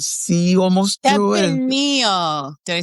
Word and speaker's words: Tempranillo: And Tepenillo. Did I say that right? Tepenillo.